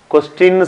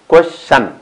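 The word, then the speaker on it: question: இனிமேல் கொஸ்டின்னு சொல்லாதீங்க, கொஷன். கொஷ் QUES கொஷ் TION ஷன் கொஷன். Okay, மறந்துடாங்க. கொஷன், நோ கொஸ்டின். கொஸ்டின் உச்சரிக்காதீங்க.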